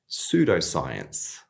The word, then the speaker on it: pseudoscience: And again, we want to make sure the P is silent here. So we have pseudoscience.